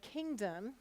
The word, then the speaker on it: kingdom: at this word Kingdom which syllable are you saying really clearly King you can even feel this Kingdom can you feel your mouth open bigger for King Kingdom and the O is awah sound and so it's not